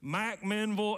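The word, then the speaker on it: McMinnville: there it's halfway between M Menville and that's how they say it in Warren County M Menville and Manchester and God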